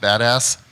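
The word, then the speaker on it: BDAS: uh mystery right now it's pronounced badass and um uh what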